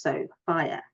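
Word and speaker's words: Sophia: My first name is pronounced so, fire.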